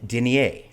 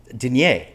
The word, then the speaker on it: denier: Pantyhose alone would be thin denier. I learned this, which I learned later. Denier, not Denier, which is the way I pronounced it.